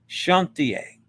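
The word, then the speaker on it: Chantiers: The final S is silent. Chantier.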